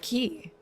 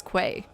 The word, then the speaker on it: key: The word key is pronounced key, but its common mispronunciation, tell the Coast Guard this, call them up, is quay.